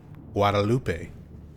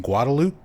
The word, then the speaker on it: Guadalupe: a an area that if you are a Spanish speaker, you would probably want to pronounce it Guadalupe because that's how it's spelled.